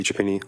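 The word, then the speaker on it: Chiappini: Chapino. Are you here? Chapino. State and spell your name for the record. My name is Japini. Last name is spelled C H I A.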